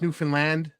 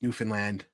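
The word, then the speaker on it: Newfoundland: to hear it and it's pronounced New Finland um my buddy uh my buddies are newfies uh in the K military uh know playing hockey you know it's New Finland uh you know so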